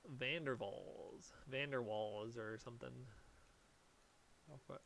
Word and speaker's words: van der Waals: something called Vander Falls Van Der waals or something I'll put I forgot how to pronounce this van der waals it's like Dutch I believe van der waals you